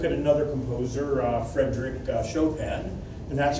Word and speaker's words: Chopin: let's uh look at another composer uh Frederick shopen and that's how it's pronounced please don't come out of the class calling him choen he's a he's a major you know composer